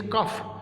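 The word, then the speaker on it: cough: आगे लिखा हुआ है COUGS, कफ, इसके अंदर हमने फ पढ़ा, GH नहीं पढ़ेंगे। वेट, WEIGHT, वेट, इसमें भी GH साइलेंट है।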